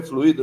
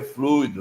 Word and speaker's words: fluido: então o certo é fluído Não não é fluído não o certo é fluido não tem acento fluido é uma palavra que você pronuncia igual circuito fortuito e assim por diante tá Henri vamos passar